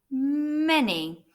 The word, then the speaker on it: many: It's many. Just like the any, the letter A is making the E sound.